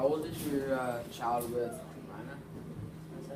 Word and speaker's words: Raina: How old is your child with Rhina? Is that how you pronounce the dog's name? What with Raina, yeah. Raina.